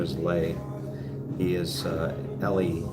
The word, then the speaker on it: Le: His name is Lay. He is Ellie. You spell his name L-E, and you pronounce it Lay, like L-A-Y.